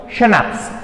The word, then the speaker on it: schnapps: Snaps means it is pronounced like schnapps, okay, a German drink made from grain, okay,